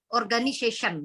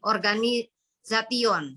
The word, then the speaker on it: organization: Organization, bukan organisation, salah.